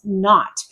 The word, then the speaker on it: naught: So another name for zero in British English is naught. And this is not common and not used. I made a joke there. Um but it's different spelling, same pronunciation as naught, n o t, but of course different spelling.